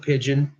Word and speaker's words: Pigden: It's spelled Pigden, but we pronounce it Pigeon.